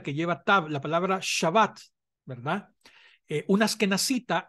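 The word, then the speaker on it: שבת: lleva tabla la palabra shabat verdad Unas que nacita no la pronuncia shabat sino que dice chavas chavas verdad pero esos son ya los acentos ambos son válidos y ambos son correctos pero en esta no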